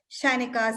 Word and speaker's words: Zyenika: Zyenika is actually a Sanskrit word, and I just didn't know the best way to spell it. So Shainika, Zyenika, that's where it is.